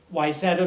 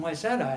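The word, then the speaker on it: Wayzata: up in a a little suburb of minneapolis yzeta minnesota w-a-y-z-a-t-a no one knows how to pronounce it unless you're from minnesota and he was looking at my resume and he was like oh you're from wyzetta and i went and i fell in love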